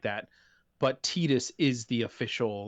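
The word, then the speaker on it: Tidus: so obviously they very very uh yeah it's pronounced tetus it means sun in the okan dialect just as Yuna means Moon A lot of people use kh2 to back up the Titus argument but k2's voice recording was handled by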